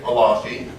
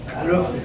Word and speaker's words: Alofi: Suzanne Leonard, Sharon Kenty, William Long, Tom Jameson, Alafi. How do we spell it? Or Alafi? A-L-O-F-E is what I count. Is it Alafi or Alofi? Alofi. Alofi, my apologies.